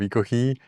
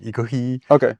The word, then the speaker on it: Ekohe: Some people say Ekohe, but we tend to say more like Ekohe, which is also how we write it in katakana in Japanese.